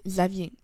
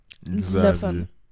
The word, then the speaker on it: Xavier: Un exemple, Xavier. Je vais plus le prononcer comme un Z. Xavier.